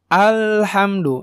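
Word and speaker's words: الحمد: Maka cara bacanya alhamdu. Hamdu. Nah, ada ditahan sedikit gitu ya. Mengalir sedikit. Hamdu. Hamdu. Jadi enggak hamdu, hamdu, enggak gitu. Tapi hamdu. Tapi jangan kelebihan juga. Alhamdu. Nah, itu juga tidak tepat.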